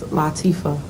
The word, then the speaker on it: Latifah: It's an Arabic name. Is it Arabic? Yes. Oh, my It's bad. Arabic, and it means delicate and sensitive, and it's pronounced Latifah.